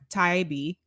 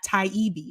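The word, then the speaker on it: Taibbi: last name correctly but matt taibi i think is how it's pronounced so matt said i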